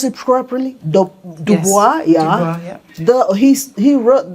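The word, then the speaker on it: Du Bois: rule so WB Dubois I think did I pronounce it properly Dubois yeah the he's he wrote that piece in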